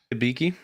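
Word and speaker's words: Hibiki: like you said it right say it again hiiki there you go there's only one reason I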